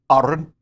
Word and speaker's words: Aron: She goes, Aron. Even rolled the R.